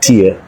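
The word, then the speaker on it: Tiye: That was her name, Queen Ti or Queen T, like Tia, Ti. That's how you say her name.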